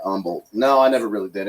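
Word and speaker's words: Humble: up north of Houston in a town called Umble no I never really did any I played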